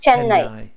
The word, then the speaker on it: Chennai: I'm not familiar with it, so even spelling it for me is can you spell it for me? C-H-E N-N W-N A-I A-I Tenhai. Okay. Yeah. Chennai.